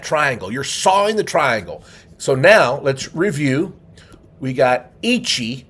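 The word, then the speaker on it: 三: Now three in Japanese is pronounced son.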